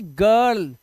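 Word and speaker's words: girl: gate इसी तरह से इसे पढ़ेंगे गर्ल जी के बाद आई आया देखो लेकिन फिर भी इसका उच्चारण क्या है ज नहीं इसका उच्चारण जरल नहीं है गर्ल है और मैंने आपको क्या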